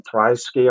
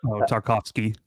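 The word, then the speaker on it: Tarkowski: How do you pronounce the other centre half's name? Tryski or whatever? Tarkovsky.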